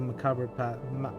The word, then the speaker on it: macabre: Bodies of dredge and villagers make a macabre macabre? That's not how you pronounce that word. I always confuse. Macabre. It's just macabre, right? Like you pretty much ignore the final 2 letters.